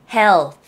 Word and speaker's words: health: health. th 발음이죠?